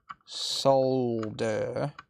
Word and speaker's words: solder: bit low melt solder notice how normal people spell salts pronounce solder properly solder none of these solder crap let's make it below